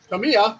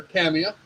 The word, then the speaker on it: Tamiya: got one two some Tamiya or Tamia pick your pronunciation translucent green Rattle and